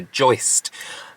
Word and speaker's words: joist: mixes like mix like it's not Joyce Pam it's not a person it's a joist um so whenever I say rolled steel joist I have to say it like joist that's probably only me